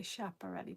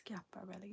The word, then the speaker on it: Schiaparelli: vintage guia parelli pieces I always want to say chap already but I think it's Scupper really if I mispronounce it